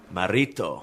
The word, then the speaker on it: Marito: Marito.